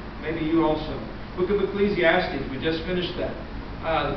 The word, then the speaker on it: Ecclesiastes: do you say that book and i said ecclesiastes and he said and he got up there